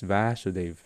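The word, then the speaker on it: Vāsudeva: and vasudeva are different krishna is vasudeva you first letter a first vowel have a bar so it's like pronouncing it with two vowel 2a vasudeva yeah so this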